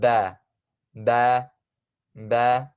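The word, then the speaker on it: باء: under that is one dot under that is ba ba ba okay and to spell that out we have B Double A so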